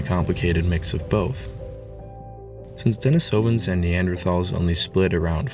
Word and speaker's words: Denisovan: well i just realized i've been saying denisovan this whole time when correctly it's pronounced denisovan so i'm going to be